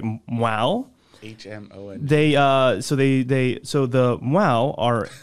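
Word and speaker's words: Hmong: And it's spelled H-M-O-N-G, but pronounced, hopefully I'm doing this right, Mwau.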